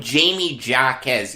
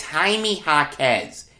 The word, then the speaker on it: Jaime Jaquez: i was calling him jamie jacquez yesterday i feel like an idiot i could have swore i heard someone calling him jamie jacquez it's jaime hawkes it's a spanish pronunciation i am sorry i